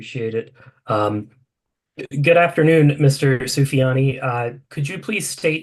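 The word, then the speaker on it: Soufiani: the record for us my name is sufyani first name is spelled s i n a last name is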